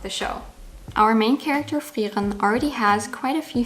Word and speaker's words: Frieren: Starting with the sounds, Frieren has the same issue as Eisen, where the vowel of the last syllable in German isn't really pronounced, but because Japanese doesn't allow for that, they pronounce it as ren, making it thereby a fuller vowel than it is in German.